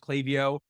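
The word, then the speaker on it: Klaviyo: so they are the I don't know if it's called clay I've never heard clay before I've heard clavio and other things but it's definitely pronounced clavio their VP of customer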